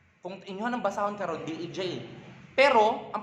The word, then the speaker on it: Dej: For example, kani, D-E-J. Karon, D. E-E. J. J. Pag isumpay na tanan, Dej. Hala, nga nang i-pronounce man nato na as Dej.